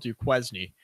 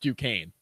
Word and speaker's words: Duquesne: The one that looks like it's spelled Duquesne. Yeah, Duquesne. Okay, that's right. Yes. But it's actually pronounced Duquesne, I guess.